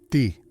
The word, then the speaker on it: ti: En sumerio, la palabra costilla se pronuncia ti, pero esta misma palabra significa dar vida.